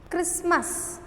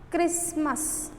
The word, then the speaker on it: Christmas: Christmas. Christmas. So T I did. Christmas I not said. I said Christmas. So T is silent.